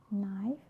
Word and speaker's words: knife: So K is not pronounced when it comes before an N, like knife, knee, knock, not, knowledge.